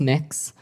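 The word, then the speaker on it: Mx.: It's pronounced mix.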